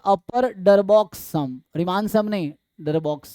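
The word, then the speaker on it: Darboux: यू का मतलब होगा, तो इसको बोलते हैं अपर डरबॉक्स सम, रीमान सम नहीं डरबॉक्स सम, ठीक है। सो स्पेलिंग क्या लिखा है, बी ओ यू एक्स, ठीक है ना।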